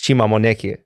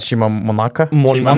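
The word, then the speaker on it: Chima Moneke: it 100% correctly but to me it's Shima mon but for sure not Shima Mona mon whatever they're saying Monica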